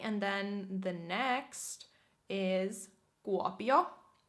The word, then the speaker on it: Kuopio: Okay, and then the next is Kuopio. Kuopio, which kind of center east, center right of Finland is Kuopio.